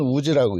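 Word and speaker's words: 氏: 그래서 가바네가 있고 우지라는, 씨는 우지라고 읽습니다.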